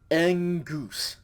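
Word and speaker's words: ἐγγύς: then upsilon sigma okay this word is pronounced engoose okay if it just had the gamma it would be a goose but with the double gamma it is engoose okay that ng sound not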